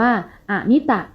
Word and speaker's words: อมิตะ: สิ่ง ที่ นับ ได้ หาก เติม ออ ลง ไป ข้าง หน้า จะ อ่าน ว่า อมิตะ ซึ่ง แปล ว่า นับ ไม่